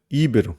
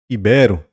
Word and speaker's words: ibero: Nobel é Nobel certo não é íbero mas ibero não é rubrica mas rubrica